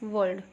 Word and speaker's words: world: Bal Vihar and Children's World, okay, WORLD, world, R will be silent, it should be world, WORLD, world, not ki world, okay, it should be world.